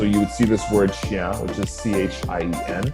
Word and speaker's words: chien: dog, you know, it's chien, which if you look at how it's spelled, it kind of looks like chain. It's not pronounced like that at all, but if you're going